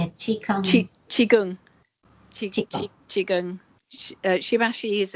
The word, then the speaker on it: Qigong: And what about Chai Kung? Is it Shibashi? Is that how you say it? Qigong.